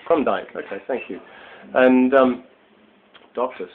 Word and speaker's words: Krumdieck: So, sitting here with Susan Krumdieck, and do I have the right pronunciation for that, Susan? We say Krumdieck. Krumdieck, okay, thank you.